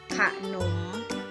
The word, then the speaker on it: ขนม: แล้ว ตัว ตาม ก็ จะ อ่าน ออก เสียง เหมือน มี หอ หีบ นำ อยู่ ข้าง หน้า นะ คะ จะ อ่าน ว่า ขนม ค่ะ ทำ ที่ 2 นะ